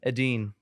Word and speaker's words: Edin: Help me pronounce the name. Edin.